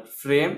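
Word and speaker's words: frame: ई में भी एक इम्पॉर्टेंट वर्ड है, जैसे कि और किसी भी ई का प्रयोग अंत में किया जाता है, किसी भी वर्ड के अंत में, तो उसका उच्चारण नहीं होता है।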